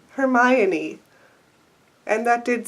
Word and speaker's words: Hermione: I spent years and many arguments with friends thinking it was Hermione. Even the pronunciation section in this book didn't help because I will show you what I read. Here's what I read. Her-me-o-ni.